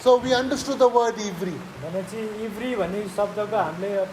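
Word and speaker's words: עברי: इब्री आइभीआरआई Okay, Nepali ma Ivri bhane leख्नुस् है. नेपालीमा इब्री भनेर Ivri, pronounce इब्री nicely.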